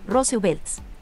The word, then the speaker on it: RSVLT: La imagen icónica ha sido censurada por la reciente colaboración de Disney con la marca de moda RSVLTs, pronunciada, como señala la compañía, Rose Belts.